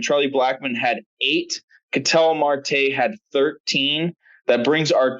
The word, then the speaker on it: Marte: I did not check martel's numbers from yesterday so Marte come on get it right at least at least pronounce the guy's name right Martel Marte it doesn't [